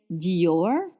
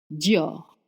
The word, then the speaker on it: Dior: We say Dior actually one syllable. Dior.